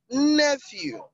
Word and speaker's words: nephew: You have nephew is on the first syllable.